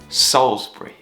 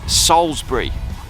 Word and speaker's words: Salisbury: got on busking in Salisbury oh look at that for lighting welcome to Salisbury or Salisbury as it's spelled that's a mighty Cathedral